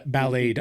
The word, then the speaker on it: Ballade: Ballad of harbula uh Ballade I should say is a ballet form uh B I don't know if I'm pronouncing that correctly but it's ballad with an e on the end and it has a